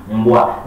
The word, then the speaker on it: mbwa: But in Kiswahili, the pronunciation kind of changes. It is mbwa.